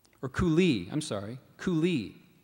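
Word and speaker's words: coulis: word has a near homonym the word is koui or koui I'm sorry koui it's a noun it's a thick sauce made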